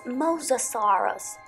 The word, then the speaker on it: mosasaurus: you know the name it's mosasaurus mosa soros mosasaurus next dinosaur is very popular